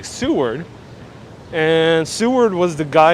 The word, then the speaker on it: Seward: about sue word so i'm pronouncing correctly seward and seward was the